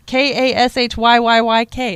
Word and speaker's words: Kashyyyk: It's Kashyyyyk.